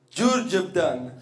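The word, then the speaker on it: Đurđevdan: Com'è la pronuncia? Giurgeptan.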